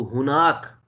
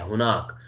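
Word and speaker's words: هناك: ये हम जो आमी में यूज करते हैं हिना एंड हुना, ये रॉन्ग प्रोनाउंसिएशन है बेसिकली, ठीक है। ओरिजिनल प्रोनाउंसिएशन क्या है? हुनाका, हुनाका मीन देयर, विद यानी विद काफ होगा तो इसका मीनिंग होगा देयर।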